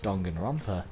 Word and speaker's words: Danganronpa: realize that they are inside the world of donggan romper as they pronounce it i still prefer pronounce it as danganronpa but you know i digress danganronpa they are